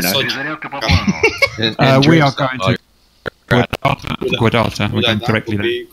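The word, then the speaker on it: Gudauta: We are going to Guadata. We're going directly there. Is it Guadata or Gudata? Gudata. Like good Gouda cheese, like Gudata cheese? Yeah. Gudata. Actually, I believe the correct pronunciation is Huata.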